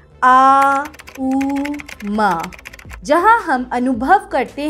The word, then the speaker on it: ओम: तौर पर अगर हम ओम बोलते हैं तब यहां ओम को हम तीन फ्रीक्वेंसी में में उच्चारण करते हैं आ उ म जहां हम अनुभव करते